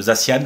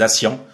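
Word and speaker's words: Zacian: c'est pour ça que beaucoup prononcent zasan je crois c'est faux c'est acian SCIAN comme la couleur Sian qui est je crois un dérivé du bleu et zamazenta pour mazenta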